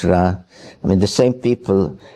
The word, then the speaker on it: Ra: And uh the Egyptian god Ra, some say Re, but it's Ra.